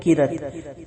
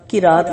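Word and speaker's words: قیراط: بات آپ کو بتاتی، جو لوگ کہتے ہیں کیرت، کیرت کا مطلب ہوتا ہے کوڑا کرکٹ، کیرات لفظ ہوتا ہے، تلفظ صحیح کیجئے، سب لوگ کیرات کہا کریں۔ کسی مصیبت کے موقع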